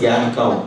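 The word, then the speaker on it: Jan Koum: It's Jan Kaum. It's pronounced as Yan Kaum.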